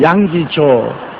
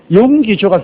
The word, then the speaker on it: 용기조: 그 다음에 또 동남아에 가니까 어떤 사람이 잡으면 여기조 그래요. 그래서 난 여기에 또 조시가 있단 말인가. 가만히 있으니까 내가 딱 치면서 여기조 그럽니다. 도저히 발음이 안 돼. 용기조가 그렇게 힘든가 봐요.